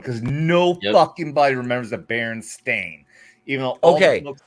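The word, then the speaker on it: Berenstain: No don't but they say they say it they say it right on the cover Baron Stain I don't and I Dude as a kid growing up it was Baronstein. It was Baronstein. Everybody remembers a Baronstein.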